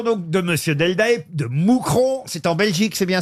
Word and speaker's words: Mouscron: Une première citation pour Thierry Deldael, qui habite Mouscron, qui a dit... Moucronduic, pardonnez-moi Oui. de vous reprendre, cher On ne maître. prononce pas le S en Belgique, oui.